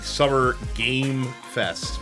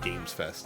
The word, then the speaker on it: Summer Game Fest: all about uh the summer game Fest very very important it's that singular game um it's not games Fest even though people keep pronouncing it that way um we're going to